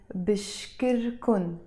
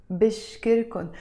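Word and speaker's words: بشكركن: as a verb basically so the way to say that is Bashir Khan Bashir Khan so the verb bish core alone means I thank mr. Cohn with the Khan in the end means you and the plural so be sure cone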